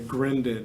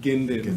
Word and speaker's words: Grinden: Alex's last name wrong I left the r out there's an r in there right it's like grinden and I think I was calling him ginden for yeah and he